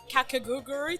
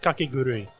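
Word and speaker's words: Kakegurui: not watching anything but I just finished uh kakagi twin okay is that how you pronounce it it's pronounced kakuru it's the the gambling anime on Netflix such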